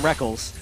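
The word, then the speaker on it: Rekkles: I still want to call him Reckles, but I've just gotten so used to calling him Reckless because he says so.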